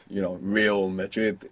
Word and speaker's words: real: legally illegally illegal meant how do you think you say real in Spanish real real like Real Madrid real real good when we have an r at the beginning you might hear it like rolling a real how do you think